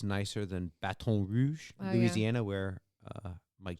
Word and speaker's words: Baton Rouge: thing called Baton Rouge, spelled like rouge on your cheeks, for like it was drag queens and playing softball. Okay. So it was a Baton. bat and Like rouge. Battin. Yeah. Baton. Baton Rouge.